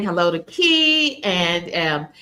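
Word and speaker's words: Kie: And it everyone's saying hello to Key and um it's um spelled K I E but it's short for Kesha and so we say we pronounce that key and um so glad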